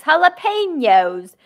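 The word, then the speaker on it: jalapeños: I'm not allowed to correct you, but that's a soft J there. That's a Spanish language style J.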